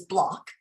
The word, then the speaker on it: Bloch: But the smiley face, our family last name is Bloch, but it's spelled B-L-O-C-H. Yes. And so we, for fun, our family text message is for blockheads. So, and our email has blockheads in it.